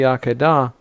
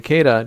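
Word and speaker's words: Akedah: at the end of the akadah or the kedah depending on how you pronounce it the binding of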